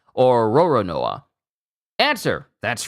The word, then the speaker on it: Roronoa: In Japanese, Lolonois is pronounced Lolonoa or Roronoa.